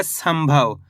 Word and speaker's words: संभव: सम में अनुस्वार की मात्रा सम भ व तो मिलके बन जाएगा संभव। कैसे पढ़ेंगे? संभव। इस शब्द के अंदर अपन ने आधा म का उच्चारण करा है।